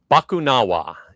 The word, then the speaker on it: Bakunawa: And the first crazy thing is going to be trying to get my tongue to pronounce the name of the ride consistently. Bakunawa is the Okay, name that's how of I the said new it.